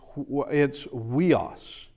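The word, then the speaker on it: υἱός: Okay, it is pronounced, we've already said it actually earlier, it's weos is what it is.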